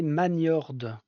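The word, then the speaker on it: Manjord: Euh le J se prononce Y parce qu'on dit un Yarl. Donc là ce serait Maniord dans la région de Maniord.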